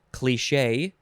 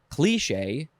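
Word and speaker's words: cliché: cli you could say cliche you could say cliche or you could say cliche you don't have the the long e in there cliche how do i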